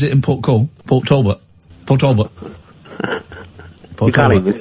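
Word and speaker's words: Port Talbot: Portalbert. You can't even say it, can you? I can't say it properly cuz you're not supposed to say the T's. Pulbert.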